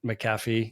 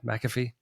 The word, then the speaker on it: McAfee: I mean, he's a big deal in a lot of different spaces, but yeah, Robert Chaldini and John McCaffy, is that how you pronounce his name? McAfee.